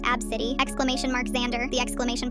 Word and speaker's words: ABCDE: ABCDE, pronounced Abcity, exclamation mark Xander, the exclamation point is part of it, and Kamnop, pronounced Noel, get it, Noel.